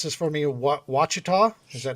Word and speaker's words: Ouachita: so late and help pronounce this for me Ouachita is that how it's pronounced yeah and you missed an a o-u-a-c-h-i-t-a yeah like Lake wachita right there in the middle of Arkansas it's